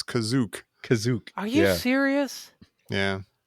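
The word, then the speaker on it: Kashyyyk: is that house wait how is it pronounced well it's kashyyk for some reason the one time you hear it in this the guy says kazuk kazuk are you serious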